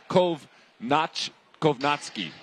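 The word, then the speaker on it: Kownacki: I've heard of Kovnatski. It's Kovnatski. That's how I'm going to say it, against Demirzin.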